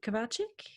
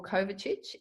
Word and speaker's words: Kovacic: your surname kabaah check you can pronounce it that way or Kovacic no gosh no that is in any direction from that local area and they pronounce it differently so what you just said is perfect 100 kilometers that way